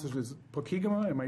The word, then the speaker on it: Pokegama: I always pronounce this as Pokegama. Am I pronouncing it? Pokegama. Pokegama, yeah.